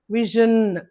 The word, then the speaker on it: vision: Here this symbol indicates that sound ven vision. Okay. syllables vision. Okay, two syllables stress the first syllable is stressed.